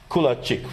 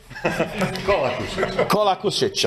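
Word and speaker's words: Kolakušić: And another colleague from Croatia, Kulacic, right? Do I pronounce it correct? Right now, not. Kolakusic, I know it's tough with all these names.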